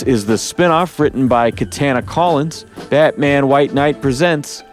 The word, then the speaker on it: Katana: katana the sword or is it like banana and she's like my family says banana the rest of the